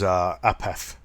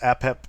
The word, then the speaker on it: Apep: The great evil of the Egyptian pantheon is the correct pronunciation is Apep. It's sometimes pronounced Apep, or it can be said Apophis.